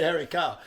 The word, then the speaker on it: Harry Karl: going to say your name again so the pronouncer was doubling something hairy carl that's how i stay harry carl but i scored my first goal and um